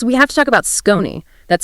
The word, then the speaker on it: Skoni: Yes, we have to talk about Skoni. That's spelled S-K-O-N-I.